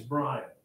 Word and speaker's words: Bryan: Students, for some reason, they hear me saying, I'm not saying Bryant. It's Bryan.